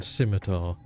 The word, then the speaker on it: scimitar: mean scimitar? I can't believe you just mispronounced scimitar. It's hard to not pronounce it that way. There's no K in there.